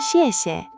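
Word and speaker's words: 谢谢: "Xièxie". This means "thank you". It's x i e x i e e with a fourth tone on the first "xiè" and a neutral tone on the second "xiè".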